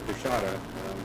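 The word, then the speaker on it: Coushatta: David Sickey from the Louisiana, I want to pronounce this correctly, is it the Coshawta Nation? It's Coshawta tribe of Louisiana.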